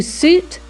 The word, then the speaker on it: suit: Remember, it is to suit to rhyme with boot.